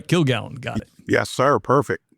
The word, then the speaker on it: Kilgallon: Kilgallen.